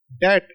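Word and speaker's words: debt: Light डॉट के साथ इसको पढ़ा जाएगा पैच डेट यह डी है। लाइट डॉट में इसको पढ़ा जाएगा डी ई बी टी डेट B silent है। बी की प्रोनंसिएशन साथ में नहीं आएगी। डेप्थ नहीं होता डेट।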